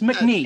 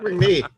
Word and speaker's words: Macnee: Actually, it's McNee. It's Patrick Isn't it pronounced McNee. like with the British? Not Patrick Isn't Macnee. It Puttermaker? It's Patrick McNee.